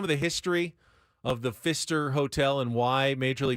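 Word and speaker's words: Pfister: a dream of Guido Fister he wanted to it's by the way it's spelled PF i s t r yes the p is silent it started as a dream of Guido Fister he wanted to have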